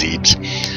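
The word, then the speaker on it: Zebes: heading back to Planet I always mispronounce it zebs zebus I think it's zebbs this just sounds stupid though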